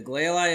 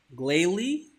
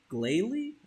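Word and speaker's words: Glalie: to be difficult now there we go the gayi is hovering over the uh charred body of the snow run from earlier it's an adamant nature and the glal ey is pissed GL wait glay glay I've I've been pronouncing this wrong my whole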